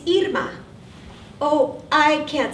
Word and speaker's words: Irma: can't roll my RS you don't need to roll your ARS to say Irma my father-in-law remembered the pronunciation of My Name by thinking of ear muffs it's fine if you want to call me although Spanish has